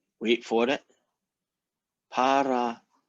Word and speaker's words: parallelepiped: Parallelepiped.